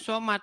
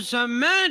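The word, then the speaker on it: صمد: Saya bacanya begini. Qul huwallahu ahad, Allahu somad. Dimarah saya. Dimarah. Coba Bang, Bacanya bukan coba Bang begitu. artinya Bang. Bacanya harus Coba begini. artinya. Qul huwallahu ahad, Allahu samad.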